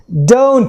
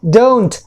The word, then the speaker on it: don't: Do plus not, this is don't. अब इसके pronunciation देखिए, ये है don't, right?